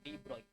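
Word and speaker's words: de Broglie: Spelling में हम लोग डी ब्रोगली लिखते हैं। पढ़ते हैं डी ब्रॉय।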